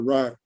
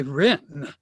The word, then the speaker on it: Wren: we interviewed uh dr ryan doctor am i saying your name correctly am i pronouncing your name correctly it's close enough usually we say wren as you prefer sir